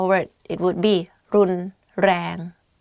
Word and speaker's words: รุนแรง: The only difficult part is you have to click your tongue when you, while you're speaking, like R. You can try R, R, R, R, R, R, like that.